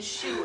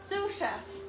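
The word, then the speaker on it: sous chef: She even has me saying shoe. It's a Sue. Sue chef. Sue chef. I said it right.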